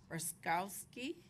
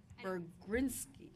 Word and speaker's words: Bergrinsky: Raskowski. What's that? Bergrinsky. It's close. Bergrinsky.